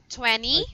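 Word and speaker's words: twenty: Jethro, by the way, since I heard you said 20, I just want you to know that when you are pronouncing number 20, it's silent T.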